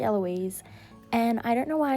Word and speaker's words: Eloise: I said Ely, but it's actually Eloise.